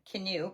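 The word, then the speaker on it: Kinew: Wobb canoe canoe but it's spelled k i ne e w is an anishabi author from the Ojiua ways of Anna Gaming First Nation uh in Winnipeg.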